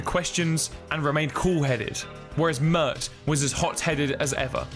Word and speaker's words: Pmurt: Trump, Mert. The P is silent when you say his name backwards.